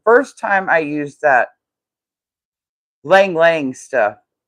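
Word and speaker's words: ylang-ylang: The first time I used that lang lang stuff. It's spelled y l a n g. But, I looked up the pronunciation and it says lang lang and that's a really like an oriental kind of smell.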